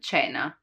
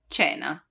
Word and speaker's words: cena: While when there is I or I, it's a soft sound, like in cibo, cibo, food, or cena, cena, dinner.